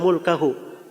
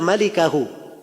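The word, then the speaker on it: ملكه: Al-Bukhari itu tidak bilang illa mulkahu. Dia berkata illa malikahu. Tulisannya sama, mim, laf, lam, kaf, ha. Tapi cara bacanya yang beda. Dia bacanya illa mulkahu. Ya. Kalau bacaan yang benarnya illa malikahu, kecuali pemilik wajah.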